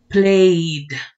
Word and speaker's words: played: Ok, entonces, el pasado de este verbo se va a pronunciar como D. Played. Played. Pronuncia usted la I y después la D.